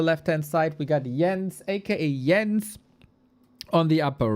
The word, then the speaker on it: Jens: You of all people should be the ones to pronounce Yens correctly." But no, even the Swedes do it wrong. Yens is Yens na na na na.